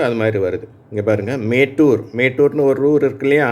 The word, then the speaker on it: மேட்டூர்: இங்கே பாருங்கள், மேட்டூர். மேட்டூர்னு ஒரு ஊர் இருக்கு இல்லையா, அணைக்கட்டு இருக்கு இல்லையா, மேட்டூர் டேம், மேட்டூர் அணைக்கட்டு இருக்கு இல்லையா, அந்த ஊர் மேட்டூர் இங்கே இந்த ஈ என்ற எழுத்து ஏ என்ற உச்சரிப்பை பெறுகிறது.